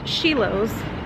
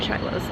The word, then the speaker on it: Schilo's: the other day and I'm pretty sure I mispronounced it but I'm 100% certain it is called pronounced sheos not shilow chilos so that's where we're